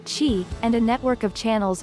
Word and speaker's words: chi: of minerals chemicals and energy known as chi pronounced chi and a network of channels or meridians this